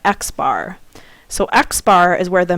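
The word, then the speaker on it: x̄: bar on top and we actually pronounce that xar so xar is where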